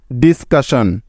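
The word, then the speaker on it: discussion: কিন্তু এই চারটি বর্ণকে ভাঙা যাবে না, কারণ তারা হলো একটি ওয়ার্ড প্যাটার্ন, যার উচ্চারণ সবসময় হয় শন এর মতো, তাই তো? সুতরাং এই তিনটি অংশ মিলে শব্দটির উচ্চারণ হবে DIS ডিস, CUS কাস এবং SION শন, ডিসকাশন। ডিসকাশন ডিসকাশন অর্থ হলো আলোচনা বা আলাপ, বুঝতে পেরেছ? আরেকটি বিষয় খেয়াল করেছ, এখানে কিন্তু দুটি এস পাশাপাশি ছিল, তবু কিন্তু এখানে একটি এস এর উচ্চারণ হয়েছে।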